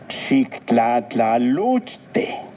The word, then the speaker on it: xictlatlaluchte: Xictlatlaluchte, Recuerda que en el náhuatl las palabras se acentúan en la penúltima sílaba. Xictlatlaluchte.